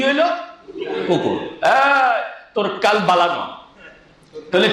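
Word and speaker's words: قلب: ওটার উচ্চারণ জিহ্বার একদম গোড়া, ওই গোড়া বরাবর উপরের সাথে লাগবে। জিহ্বার গোড়া, গোড়া থেকে যদি নড়চড় হয় তাহলে সঠিকভাবে উচ্চারণ হবে না।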